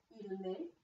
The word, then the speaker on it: met: So you're hearing the T's in the plural form, but you are not hearing the T in the singular form. This is the distinction between singular and plural. Il met, il met.